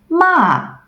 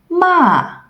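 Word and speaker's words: mà: for the falling tone ma ma if you remember the tones of no God please no then you already can pronounce the falling tone just imagine your him and saying no dramatically ma remember you don't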